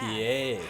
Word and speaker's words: Escoffier: Scoffier. That's how you say it.